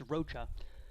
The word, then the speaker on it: Rocha: we we heard down we heard roca so it's it's rocha and uh he is